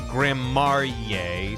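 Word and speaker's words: Gramarye: It's pronounced Grammarye since I was 13.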